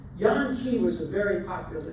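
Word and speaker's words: Jan: changed it to y a n ke e Yan key was a very popular Dutch name also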